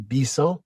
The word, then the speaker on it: Bisson: Well, my name is Bisel and it's pronounced Bis because I'm from born and raised in Montreal, Quebec, Canada.